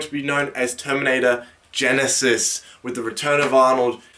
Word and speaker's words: Genisys: be known as Terminator Genisys, with the return of Arnold. The funny thing about this title is the fact that it's not spelled, Genesis as in Genesis. It's spelled Genesis as in Genisys.